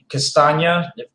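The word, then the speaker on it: Castagne: i think the biggest impact is you know castagna that's how it's actually pronounced um is 5.5 million um so i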